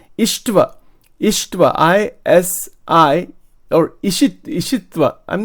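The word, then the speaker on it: Isitva: Ishtva, I-S-I, or Ishitva. I'm not saying this right. I'm sorry. It's called Ishitva. I have to see the Sanskrit actually. This is written in English here. Ishitva. I-S-I-T-V-A. Ishitva.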